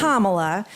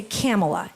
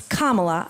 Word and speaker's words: Kamala: intentionally disrespectful from here on how do you pronounce the vice president first it's Kamala but I would love to hear you say